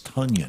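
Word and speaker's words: Tonyan: Tunyon. It's like onion with a T. Can I call him Tanyan, please? But it's Tunyon.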